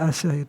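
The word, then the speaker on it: آسية: Bimaddil hamzati, dengan membaca panjang hamzahnya, wa kasr sin, dan kasrah sin, asi, jadi kan, wa takhfifil ya'i, dan tidak ditasdidkan ya-nya itu. Jadi siapa Asyah ini?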